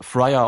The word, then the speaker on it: Friar: So, also, es wird Friar ausgesprochen und bedeutet Mönch, Ordensbruder oder Klosterbruder.